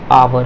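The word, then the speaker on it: hour: अब ये देखिए, अब ये वोवेल है, अब वोवेल से पहले, वोवेल क्या है, O है, अब O से पहले क्या है, ये H है, तो ये H क्या हो जाएगा आपका, ये साइलेंट हो जाएगा। तो क्या हो जाएगा, ये आवर होगा।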